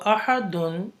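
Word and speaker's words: أحد: So ahadun, when you apply the stop sign, ahadun change into ahad, and when you change into ahad, then it becomes qalqala. So ahad will become ahad, ahad. So the dal sound become twice.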